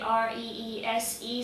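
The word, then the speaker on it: Rhys: And for Reese, it was the R-E-E-S-E spelling instead of the R-E-E-C-E spelling or R-H-Y-S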